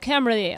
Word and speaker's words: Cymru: Oh, it's pronounced Cymru, okay.